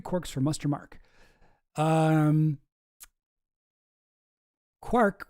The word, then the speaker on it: quark: Um quark was clearly intended to rhyme with mark as well as bark.